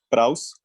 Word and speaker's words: praus: Es una palabra griega que es praus, se escribe P-R-A-U-S, y esta palabra, el significado es precisamente mansedumbre o gentileza, o se refiere a una persona suave, por así decirlo.